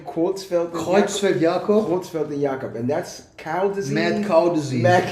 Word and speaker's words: Creutzfeld & Jakob: of a legendary hip-hop group how do you pronounce the name quelt yob quelt and yakob and that's cow disease mad cow disease mad